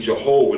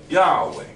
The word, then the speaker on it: Yahweh: of Yahweh it said the modern read Jehovah the King James version see that's that's erroneous okay but the correct ancient and sacred form is the original see Yahweh all right simple just